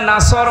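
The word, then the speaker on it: نصر: বয়ে এখানে সদ আছে নাসর মানে সাহায্য আর নন সিন র নাসর মানেগল পাখি আপনি যদি মুখটা গোল করে শুদ্ধ করে উচ্চারণ না করেন অর্থ আকাশ পাতাল পাল্টিয়ে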